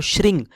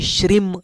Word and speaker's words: श्रीं: कोई श्रीम इस तरह से करता है। कोई श्रृंग इस तरह से करता है। लेकिन मुझे लगता है कि यहां पे अनुस्वार है तो अनुस्वार का ही उच्चारण करना चाहिए। और यह श्रिंग इस तरह से इसका उच्चारण हो जाता है।